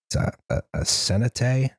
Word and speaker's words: cenote: This is something called a cenote.